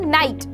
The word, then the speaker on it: night: जैसे कि मैं बोलूँ नाइट, यहाँ पे रात वाला ही नाइट है, NIGHT, ठीक है, तो GH यहाँ पर बीच में आया तो हमने इसे पढ़ा ही नहीं, हमने केवल पढ़ा नाइट, NIT।